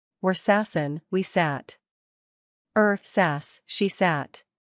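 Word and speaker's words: saß: sits in is SAS pronounce SAS s the sound is similar to the O in the English word bond it SAS ISAT theet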